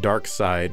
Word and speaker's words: Darxide: I guess you're supposed to pronounce it 'Dark-side' but I'm calling it Darxide.